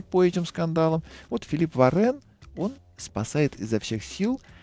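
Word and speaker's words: Varin: Фамилия у него на самом деле Варин, но на французский манера она произносится Варен.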